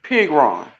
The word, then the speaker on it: Pigron: Okay, we pronouncing Russell's last name wrong. It's actually Pigron.